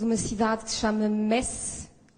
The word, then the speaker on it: Metz: cidade que se chama Metz, pronunciada muitas vezes Metz, mas nós não gostamos porque tem relação com uma fase da história muito sombria de dominação da Alemanha. E daqui em Portugal, de